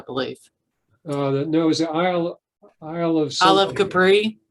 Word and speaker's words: Isle of Capri: No, it was the Isle of Capri. Isle of Capri. There you go. Rhymes with Isle of Debris.